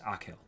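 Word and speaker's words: Achill: the five counties in the province of kak pronounced akill I've been doing it right akill yeah I did it Jack was all teeth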